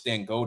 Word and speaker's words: Dangote: I don't know if I'm forgive me if I'm pronouncing his name wrong, but Dan. I know it's Dan Gode, Yeah, a leader. Dangote, I believe.